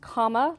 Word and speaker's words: Kamala: So apparently it's comma, like the punctuation mark, and la, Kamala.